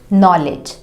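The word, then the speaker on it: knowledge: और ये लिखा हुआ है नॉलेज, जो कि हम बचपन से पढ़ते आ रहे हैं। इसे हम सही पढ़ेंगे क्योंकि हमें पता है यहाँ पे केस साइलेंट होता है, क्योंकि इस स्पेलिंग को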